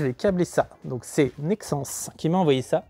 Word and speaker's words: Nexans: qui m'a envoyé ça j'ai toujours cru qu'on disait Nexant et voilà il a fallu attendre ça pour que je sache qu'on disait Nexans le S à la fin se prononce voilà les dérouleurs avec